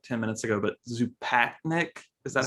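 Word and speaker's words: Zupančič: You just said it like 10 minutes ago, but Zupatnik, is that how it is? Zupanchik.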